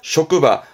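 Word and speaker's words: 職場: 발음 조심하세요. 쇼크바. 요때 장은 발음이 바입니다. 쇼크바.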